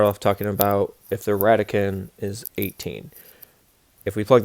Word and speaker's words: radicand: is called the radicand radicand we don't actually pronounce the last D this number right here